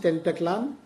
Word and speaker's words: Tenochtitlan: There's a great book on this called, I forget the title, but about historically, Mexico City was, how do you pronounce it? Tenochtitlan? Tenochtitlan, It was actually when was it Cortez or was it Pizarro?